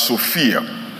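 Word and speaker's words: σοφία: verses comes from a Greek word that is pronounced as Sophia and it means Clarity amen amen it means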